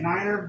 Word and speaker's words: nine: If you're saying niner, you're not saying no.